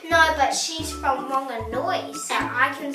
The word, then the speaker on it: Whanganui: And a tip for those who aren't Māori and from here, the correct way to pronounce this place would be Whanganui. Whanganui.